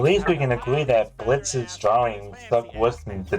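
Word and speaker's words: Blitzø: The O is silent, jackass. Sorry. Dude, even Blitz says that.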